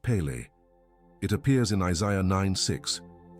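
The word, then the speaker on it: פלא: The word in the original Hebrew is Peli, written Peli-a, pronounced Pele.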